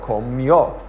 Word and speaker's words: comió: And so you're going to say comí, and then you accent the O, comió.